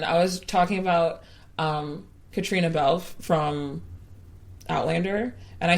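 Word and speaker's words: Caitríona: was talking about um Katrina belf from Outlander and I said her name wrong and I was like I have to fix it it's Katrina not I think I said Katarina that's okay but yes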